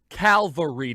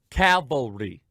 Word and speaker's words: cavalry: said that donald trump called for the calvary to come cavalry now anyone in the christian world knows that there's a difference between calvary and calvary i sometimes without unintentionally mispronounced one or the other but i know the difference calvary c-a-l cavalry one is where christ was